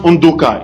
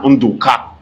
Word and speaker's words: Undoka: In fact, it's pronounced Undoka in my own dialect. But when you go to the Igbos, they say na Undoka.